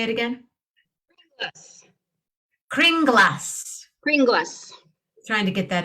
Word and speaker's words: Kringla: Kringlas. Kringlas. Trying to get that into the song, but anyway. Not gonna work. It's not gonna work. It could. Happy Kringlas. Happy Kringlas. Bring us some Kringlas.